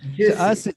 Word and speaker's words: juices: Okay, we have to have an extra syllable there. We have to make that extra sound.